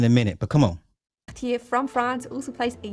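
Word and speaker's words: Cartier: Though the first syllable looks a lot like the word car, try to refrain from going all in on the car or car sound and use the back of your tongue to create the car sound with a very short and precise t at the end.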